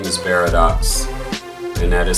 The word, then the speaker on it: Beridox: Hi, my name is Barox and that is spelled B E R I D O X.